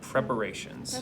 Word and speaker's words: preparations: So that word is prep, or, and then how do you pronounce the T-I-O-N-S at the end of a sentence? Do you know how that sounds? Shuns, so preparations.